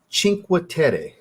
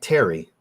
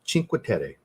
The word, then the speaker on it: Cinque Terre: Cinque Terre. Not Terry, Terre. Like, I'm trying to do the accent the best I can. I watched some YouTube videos on how to pronounce it. Cinque Terre.